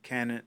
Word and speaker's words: Kannon: this God is called Guan Yin okay I guess that's the Chinese Way of pronouncing it and cannon or kinome is the